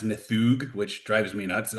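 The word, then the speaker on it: Níðhöggr: It is Nidog. It's actually pronounced Nthug, which drives me nuts.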